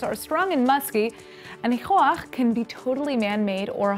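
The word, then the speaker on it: ניחוח: That's why today's word is nichoach, which is how you say fragrance in Hebrew.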